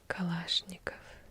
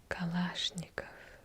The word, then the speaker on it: Kalashnikov: infamous weapon because well you do not say kalashnikov you see kalashnikov always stressing the wrong syllable so kalashnikov it's the second syllable you stress here let's move on